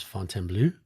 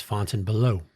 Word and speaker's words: Fontainebleau: Anything that's Vegas related, for example, 100% of the time, AI generated slop pronounces Fontainebleau. That's Fontainebleau. Blow. That blows.